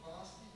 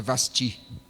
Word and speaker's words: Vasti: glória a Deus eh rainha vasti Tá ok né só pronúncia só para ajudar né a pronúncia Amém eh É vasti temos até uma irmã